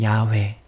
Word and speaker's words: 야훼: 이를 행하시는, 이제 다르게 또 다른 발음으로 또 알려드릴게요. 이를 행하시는 야훼, 그것을 만들어 성취하시는 야훼, 그의 이름을 야훼라 하는 이가 이와 같이 이르시도다.